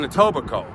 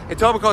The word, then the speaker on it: Etobicoke: Fackler's house is in Etobicoke, which is between Toronto and Mississauga. Etobicoke, spelled Etobicoke. Shut up! Spelled Etobicoke, but pronounced without the K.